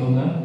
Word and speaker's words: लं: करेंगे मैं अपने सीट लूगा क्योंकि मुझे बजाना भी है ओके अब लंब नहीं बोलना है क्योंकि उसका उच्चारण लंग है तो वो आपके मूलाधार